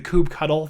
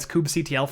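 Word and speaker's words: kubectl: things like I can't I can't get behind the Kubb cuddle thing you know it Scoob CTL for me speaking of which a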